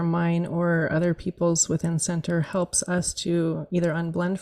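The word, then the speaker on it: Sentur: Um the app is called Center. It's spelled s e n t u r.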